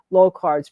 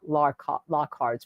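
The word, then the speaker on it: Locard: Uh so, uh just we'll give him pronunciation school Lard's principal, not Lockard's principal.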